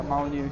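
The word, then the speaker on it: Molineux: And you've been to the Molyneux, right? Is that how you say it? Yeah, Molyneux.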